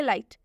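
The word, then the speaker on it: light: लाइट। लाइट में भी same वही है। जी एस टी है लास्ट में। इसलिए जो एच है इसका उच्चारण नहीं होगा।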